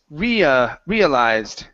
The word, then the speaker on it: realized: Instead of realized, it's realized.